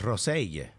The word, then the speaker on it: Rosell: We should have pronounced it Rosell. Why? That's how he pronounced it. That's how the Catalan pronunciation.